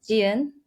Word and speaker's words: Jieun: So it's Jen. Um, there's a subtle piece to it, but yeah.